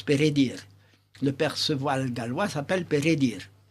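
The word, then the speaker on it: Peredur: version galloise de perddure en réalité ça se prononce pdir le percevoil Gallois s'appelle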